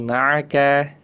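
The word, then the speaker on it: معك: Yang penting ingat, ain itu kalau membacanya nggak boleh terlalu kuat ditekan makhrajnya. Lebih rileks lagi. Gitu ya Ibu Hamizah. Iya, siap Ustaz. Boleh dibaca terakhir, diulangi. Ma'aka.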